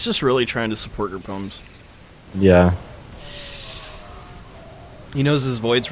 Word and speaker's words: Gerpums: Gerpums. Gerr. I have to remember that. Just think Austin Powers. Gerr, baby! Yeah.